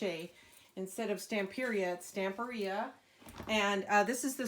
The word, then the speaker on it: Stamperia: I'm back today to finish working on my stamp RIA I just discovered that I was pronouncing the company name wrong when I was over at CH a instead of Stamp period Stamper yeah and this is the spring botanical so